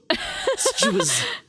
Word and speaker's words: SJW: That was me pronouncing SJW, but as like a word, by the way. Okay, I missed it. Suju's talking about the cultural meaning.